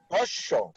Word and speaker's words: হ্রস্ব: রস্য, এটা H দিয়ে শুরু, বাট প্রোনাউন্সিয়েশনটা হচ্ছে রস্য।